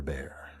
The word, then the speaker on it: Bexar: This is called the Buccaneer bear. Bexar, is how it's spelled, but pronounced bear.